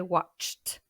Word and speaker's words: watched: Si le verbe finit avec les sons k, p, sh ou ch, on prononce t. Comme dans l'exemple qu'on a vu précédemment, to watch, I watched.